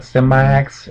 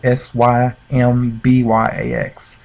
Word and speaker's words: Symbyax: other people, like Cyprexia and how do you pronounce that? Symbyax, Symbyax.